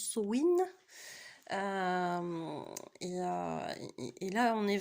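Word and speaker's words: Samhain: je crois qu'on prononce Sowin.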